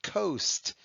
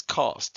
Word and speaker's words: cost: looks like an exception that's not coast it's cost it's a regular closed syllable with a glued sound your next word is